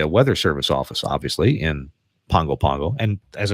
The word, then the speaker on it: Pago Pago: go to the Weather Service office obviously in Pongo Pongo and as I said earlier that it's spelled like Pago Pago but pronounced Pongo follow